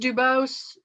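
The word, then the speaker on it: Dubus: and he's done both uh the is it pronounced dubose the father-son yes okay he's done both of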